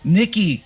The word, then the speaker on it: Nyki: It's actually pronounced Nyki.